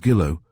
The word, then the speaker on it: Gillow: That's Mrs. Gillow, rhymes with willow.